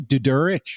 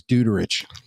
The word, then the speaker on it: Durich: Uh and and how do you say his last name? Durich. Yeah. Yeah. Because being a central PA kid, I always thought it was Duterich. Well, you can say Duterich, but no, it's got We can we